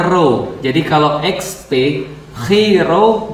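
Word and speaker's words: Ρ: Nah, jadi XP itu kalau XP bacanya dalam bahasa Yunani, X itu bacanya Chi, P itu bacanya Ro.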